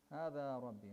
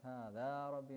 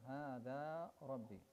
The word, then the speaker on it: هذا ربي: Ibrahim was asking, Hada Rabbi, is that how you pronounce it? Yes. Hada Rabbi, not Hada Rabbi, no. Hada Rabbi.